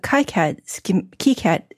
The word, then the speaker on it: KiCad: I needed to open a KiCAD schematic. Uh-huh. And I pronounce it KiCAD because that apparently is the way they originated to pronounce it.